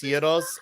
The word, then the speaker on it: gyros: Is it Gyro or Giro or Hero? Gyros.